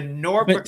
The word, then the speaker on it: Norfolk: of the country, but apparently you don't say folk. So, I got corrected by a whole bunch of people after I posted my video that I've been saying it wrong this whole time.